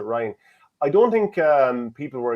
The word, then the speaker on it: Ryan: And I don't think Ryan McBride, I know it's spelled Ryan, but I pronounced it Ryan.